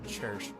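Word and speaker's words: Cherche: I'm stuck pronouncing her as Cherish. It's like the word cherish, but without the I.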